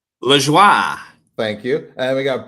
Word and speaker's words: Lajoie: LaJoie.